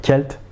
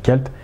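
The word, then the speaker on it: Celtes: de l'assignation cents bon je préfère dire kalt c'est la vraie prononciation oxydation kalt et de toute trace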